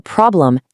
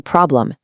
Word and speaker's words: problem: Below that, if something goes wrong, it's not a problem, it's a problem. Hit that E.